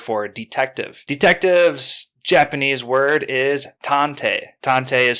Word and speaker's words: tantei: the japanese word for detective detectives word is tantei tante is spelt t-a-n-t-e-i and that is very fitting for